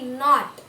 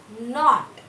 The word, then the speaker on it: knot: Not. Seventh one is K-N-O-T. Not. What is silent? Which letter is silent? K. K is silent.